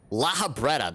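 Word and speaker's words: Lahabrea: you're gonna teleport too laha bretta lahabreta that's how you pronounce it i fear i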